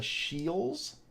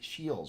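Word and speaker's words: Scheels: want to mispronounce it a Shields s c h e e l apostrophe s I think Shields we have a Shields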